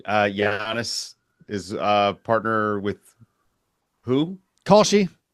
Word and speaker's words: Kalshi: Kalshi. Okay, I was going to say Kashi. Is it pronounced Kashi? That'd be much better. Is there an L in there?